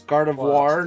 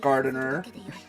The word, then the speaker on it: Gardevoir: Um, wrong name though, but it's Gardevoir, not gardener. Oh, uh, he he said Gardevoir for all the degenerates.